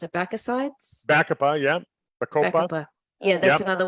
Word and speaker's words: Bacopa: How do you pronounce it? Bacosides? Bacopa, yeah.